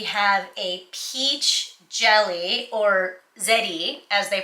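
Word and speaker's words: ゼリー: We have a peach jelly, or zeri as they pronounce it in Japan.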